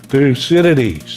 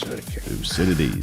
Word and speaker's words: Thucydides: met a great thinker and I can even pronounce his name. Thusidities. Thusidities. So about this war between uh that destroyed classical Greece, Ducidities wrote famously.